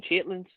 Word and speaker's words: chitterlings: Don't you mean chitlins? Yeah. This is it's spelled chitterlings. Chitlins.